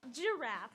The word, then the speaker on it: giraffe: which we all know is pronounced giraffe with a J, even though it's spelled with a G.